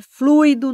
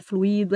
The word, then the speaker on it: fluido: circuito não é circuito é fluido não é fluído é gratuito não é